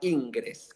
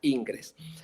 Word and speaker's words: Ingres: Y yo siempre digo que en Francia había un gran pintor que se llamaba Ingres, que acá pronuncian Ingres.